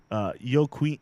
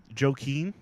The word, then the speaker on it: Joaquin: so the feds revealed their main witness against yoke wheat how do you say that joki Joaquin Joaquin el chapo guzman in opening arguments to the